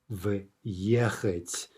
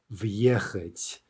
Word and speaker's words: въехать: Now note how I said that very carefully in order to keep the hard v, right? So if you want to practice pronouncing this, the trick is maybe to just pause ever so slightly, say v, right? That is hard v, and then kind of